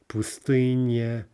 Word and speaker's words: пустыня: Пустыня, stress on the third syllable.